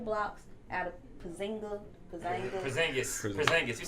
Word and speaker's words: Porzingis: They have Carmelo, D You Rose, got Joakim And- Noah, Porzingis.